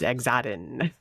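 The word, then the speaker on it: Xaden: Zaden.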